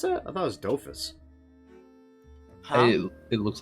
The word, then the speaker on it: Dofus: Is that how you pronounce that? I thought it was Dofus. Huh? It looks like Doofus to me.